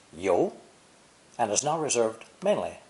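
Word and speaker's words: 尤: useful set phrases ten an accusatory pointing finger is the pictogram pronounced yo and is now reserved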